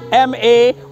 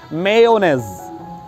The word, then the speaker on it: mayonnaise: The spelling is M-A-Y-O-N-N-A-I-S-E. People often pronounce this word as mayonnaise, or they shorten it as mayo. But the right and correct pronunciation of this word is mayonnaise.